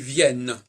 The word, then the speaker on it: viennent: Donc le ENT, là, ne fait que préciser qu'il faut entendre le N et ne plus le diphtonguer.